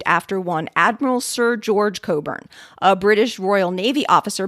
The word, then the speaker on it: Cockburn: let us know that obvious looking or not it wasn't correct and should be pronounced coburn for example brendon a